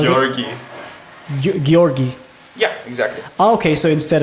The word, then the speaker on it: Georgi: for sure man for sure I need to pronounce your name right Georgie yeah Georgie is fine Georgie no no I want to pronounce it the actual way how Gori gorgi yeah exactly okay so instead of G it's